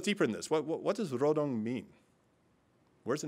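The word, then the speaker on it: 로동: real name is not Nodong because that's a South Korean pronunciation, that the real name is Rodong because that's how they'd say it in North Korea.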